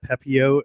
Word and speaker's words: Pepiot: Pepio. I've been doing it without. I think you're right. It's Pepio. And then Brian Bello with Boston was bumped up to AAA. But Ryan Pepio had actually just pitched